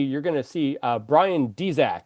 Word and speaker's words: Dzyak: So, uh, below me you're gonna see, uh, Brian Dzac. It's pronounced Dzac, even though it's spelled DZ Y AK.